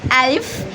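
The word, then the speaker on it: ألف: The first letter named Alif. Alif in Arabic like the pronounce of A in English. Alif like apple.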